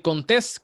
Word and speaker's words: Contés: Mi nombre es Miguel Contés, con acento en la E, y nos vemos en la próxima.